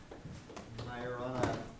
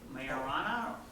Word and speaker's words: Majorana: So people either say Majorana or Majorana. It's actually Majorana. It's not marijuana, which is the temptation.